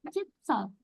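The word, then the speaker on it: 칫솔: Kalau shiot ada di bawah, di bawah bukan di atas ataupun di paling depan, itu dibacanya jadi T. Jadi chisel, chisel.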